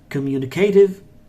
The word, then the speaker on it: communicative: Edge is silent and communicative or communicative communicative communicative creative or communicative look at this tea guys the T between two vowels are changing to D yes yes communicative honest